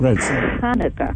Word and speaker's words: Hanukkah: I do not like that when it's spelled with just an H because that's not how you say it. It's Hanukkah, right? Yeah.